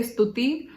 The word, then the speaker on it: Stuti: So when I was living in the US, over there, you know, Americans have like this problem pronouncing the, like, you know, they were not able to say Stuti, so they would call me Stuti or Stuti.